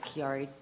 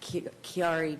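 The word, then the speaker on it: Chiari: herniated and it's called kiari def uh kiari deform malformation it's a weird word but um it's spelled c h a i r i anyhow this recent diagnosis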